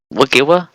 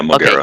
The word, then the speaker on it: Mogera: But foolishly, I ignored it and proceeded to fight Mugiwa? Is that how you say it? Yeah, Mogera.